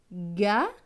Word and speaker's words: gagner: GN, GN c'est ñ. Avec le E accent aigu, c'est et, donc ñ et nier. Donc ce mot va se lire gagner, gagner.